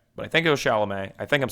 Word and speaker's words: Chalamet: So, and then you know who Timothée Chalamet is.